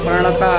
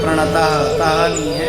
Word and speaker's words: प्रणत: जाता जो यहां पे प्रणता को कई लोग कई स्थान में ऐसे बोलते हैं प्रणता नहीं है विसर्ग नहीं है प्रणत प्रतक आगे यदि किसी शब्द में आगे जाकर के यदि हलंत शब्द आता है तो जो अंतिम का जो शब्द है उसमें जोड़ लगाया जाता है इसलिए प्रणत प्रणत त का उच्चारण प्रणत प्ले गोविंदाय नमो नमः इस तरह से उच्चारण है और यह जो मंत्र